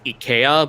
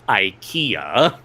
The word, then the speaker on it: IKEA: Like, for instance, everyone says Ia, but I'm like, "No, it's not IA, it's IKEA."